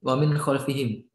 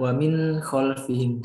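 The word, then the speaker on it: وَمِنْ خَلْفِهِمْ: mungkin yang lebih jelas eh sebentar ya mungkin Wamin khalfihim membacanya uang mint confirm jangan Wamin Calvin seperti Eh ada nun sukun yang menempel di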